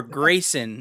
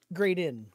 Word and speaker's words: Graydon: Grayson, is that how we pronounce it? Graydon.